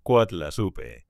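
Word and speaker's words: Coatlaxopeuh: Se ha sugerido que pudo haber dicho algo como coatlasopeu, que se pronuncia más o menos como coatlasupe y que significa algo cercano a la frase la que aplasta a la serpiente.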